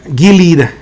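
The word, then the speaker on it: Gilead: so we look at it a delete a Gilad I remember you guys corrected how to say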